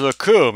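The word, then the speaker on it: Recoome: My name is Raccoon. It rhymes with doom, and you're going to be hurting all too soon.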